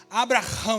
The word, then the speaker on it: Abraão: vai ser Abraão seu nome vai ser Abraão Abraão na pronúncia não é branco é mais ou menos